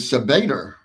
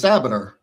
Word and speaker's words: Sabater: I've heard your name in the press conference pronounced as Sabater, but I thought it was Sabater."